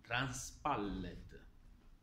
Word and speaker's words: transpallet: Si pronuncia transpallet. La derivazione è francese. È l'unione delle parole transport pallet, quindi transpallet.